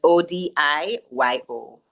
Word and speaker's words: Odiyo: It's spelled Odiyo.